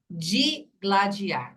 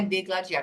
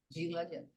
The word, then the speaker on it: digladiar: chutar não é ó digladiar não é degladiar porque as pessoas falam ele tá falar assim degladiando não é degladiando digladiando como que chama a